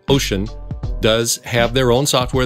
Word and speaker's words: Wouxun: someday in the meantime wookson pronounced ocean does have their own